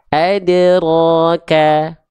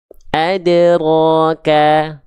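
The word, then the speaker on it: أدراك: jawaban yang warna biru karena yang merah tertahan ada Hamzah sukunnya adroka Bukan tapi adroka adroka Oke Paham sampai sini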